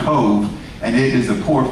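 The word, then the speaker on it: Cobh: off the coast of Cove, C-O-V-H in the Gaelic is pronounced Cove, and it is the port for Cork in the southern part of Ireland.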